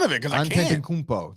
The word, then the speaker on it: Antetokounmpo: Antetokounmpo. That's exactly how you say it.